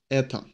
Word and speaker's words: это: In это, the emphasis falls on so we pronounce this это.